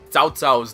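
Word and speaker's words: Cao Cao: ] me up because i know how to pronounce the names so like soutsau's name is t apostrophe s-a-o-t apostrophe s-a-o not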